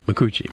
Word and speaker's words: Micucci: her name m Kate Min thank you Kate makuchi also voices Velma Dinkley we talked about Velma